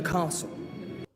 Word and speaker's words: castle: So the thing is that the the T there is not pronounced.